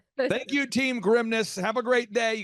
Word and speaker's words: Grimnes: He's like, "Think of it as like the grimness of the situation."